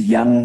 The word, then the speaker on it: Yann: As you know, your name is Yann Samuell, and it is pronounced like Yan in Yes, it is French. Yana.